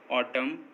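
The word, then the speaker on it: autumn: किसी वर्ड में एम और एन दोनों साथ में आएँ तो, किसी वर्ड में एम और एन दोनों साथ में आएँ तो एम और एन में एन साइलेंट होता है। जैसे ऑटम, कॉलम, डैम, हाइम, इन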